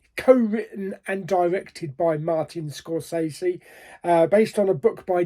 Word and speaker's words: Scorsese: to correct that because actually his name is Scorsese. Yeah, I didn't know that. How many years have we been going by saying Martin Scorsese? Yeah, I found out a couple of days ago. It's actually pronounced Scorsese.